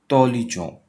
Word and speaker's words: intelligent: तो you will say il est tant intelligent. Il est intelligent. Il est intelligent. तो intelligent, il est intelligent. Intelligent. T is silent.